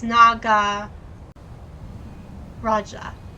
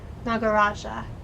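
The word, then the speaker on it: Nagaraja: You do pronounce you do pronounce the J. Oh, okay. It's na. It's Naga Raja. There we go. Okay. Sorry about that. Naga Raja.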